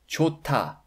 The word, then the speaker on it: 좋다: The final 흐 consonant is silent, but it affects the sound of the initial 드 consonant in the next block. So it actually pronounced 좋다, 좋다, okay? Instead of 좋다.